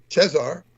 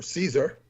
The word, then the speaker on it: Caesar: is when Radu quotes Cesar or Caesar as we would pronounce it in English right as saying Jesus